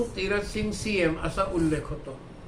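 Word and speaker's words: Syiem: राजा उ तीरथ सिंग सीएम हे सीएम जे आहे हे चीफ मिनिस्टर नाहीये सीएम असं नाहीये ते सीएम एस वाय आय इ एम असं त्याचं इंग्रजीत स्पेलिंग होतं सीएम याचा अर्थ राजा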